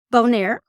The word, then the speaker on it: Bonaire: Bonaire.